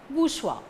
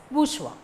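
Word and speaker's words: bourgeois: or in google search you can get the answer booshwa so the spelling b o u r g e o i s should be pronounced as bourswa another important point is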